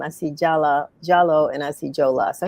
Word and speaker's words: Jalloh: It's pronounced Jalloh in certain countries, like in the Gambia, they spell it with the W, but we're all the Okay.